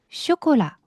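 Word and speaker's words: chocolat: 자, CH는요. 그냥 아주 살짝 공기 섞은 슈입니다. 영어랑 똑같아요. 쇼콜라.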